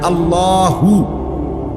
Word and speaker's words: আল্লাহ: শেষে আল্লাহ, শেষে একটা গোল হা আছে, ছোট হা। আল্লাহ মানে আল্লাহু। তো হুটারে শ্বাস ফেলাইলে হলো আল্লাহ।